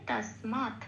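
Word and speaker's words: তস্মাৎ: আচ্ছা, 4 নম্বরে তালিকাভুক্ত করে দেওয়া আছে খণ্ডত্ব থাকলে সংস্কৃততে তয় হসন্ত দিয়ে সেটা প্রতিস্থাপিত হয়ে যায়। তাহলে আমি শব্দটার উচ্চারণ কি হবে? তসমাৎ।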